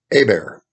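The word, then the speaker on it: Hébert: by the name of f edward a bear and of course we know how that's spelled in louisiana h e b e led by edward a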